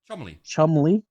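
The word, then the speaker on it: Cholmondeley: if I know okay well it is actually pronounced Chum you're stupid British stupid what is this was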